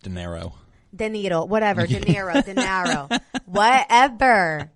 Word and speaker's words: De Niro: Award was given to Robert De Niro it's pronounced De Niro then you know whatever whatever okay danai Road